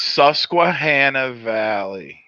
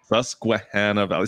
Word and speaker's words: Susquehanna Valley: Okay, we need the name, first of all, because I can't pronounce it. Okay. It's Susquehanna Valley. Susquehanna Valley. See, look at this, guys. I can say it now. DJ's gone. He's out. Susquehanna Valley.